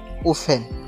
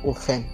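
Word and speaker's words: open: আমরা এটাকে কি বলি ওফি এন কি এটা ওফেন রং প্রোনাউন্সিয়েশন এটা হবে ওপেন কি হবে ওফেন এটা রং প্রোনাউন্সিয়েশন এটা হবে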